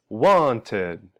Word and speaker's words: wanted: Want ends with a t sound. So we go from want to wanted, wanted. Notice here we're adding an extra syllable.